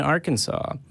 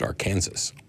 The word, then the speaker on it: Arkansas: go with Steve in Arkansas hopefully you're doing well I think you'll find it's pronounced Arkansas hey Steve how you